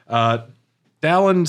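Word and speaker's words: Dalan: Dallin says if you want to break into the palace, you're going to need a sunstone. And this Pronounced is Dylan.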